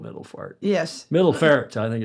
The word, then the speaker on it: Middelfart: Middelfart, I think it's pronounced.